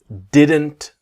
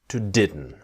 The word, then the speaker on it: didn't: to learn is about the T is silent right so didn't very